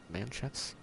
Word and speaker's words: manchettes: I already got the blood-soaked manchettes, which might be pronounced with a sh sound instead of the ch, but that's okay.